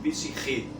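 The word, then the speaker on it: ψυχή: Então, o termo psicologia, para vocês que talvez tenham visto grego, vem da palavra psique, que é pronunciada em grego psiche.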